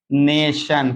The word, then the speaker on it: nation: अगर टी के बाद ION आता है तो उसका उच्चारण सन होता है, चाहे आप टी को लेके पढ़ेंगे चाहे टी को छोड़ देंगे।